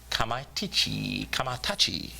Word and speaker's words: Kamaitachi: Daniels will take on Kamaitachi. He has 3 names? No, that's just the proper way to say it was the last way I said it, if even then.